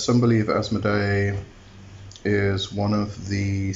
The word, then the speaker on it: Asmoday: So Connolly says, some believe Asmodee is one of the 3 heads of the Asmodei. So the difference here is in the spelling. It's A-S-M-O-D-A-Y, which is Asmodee, and Asmodei is A-S-M-O-D-A-I.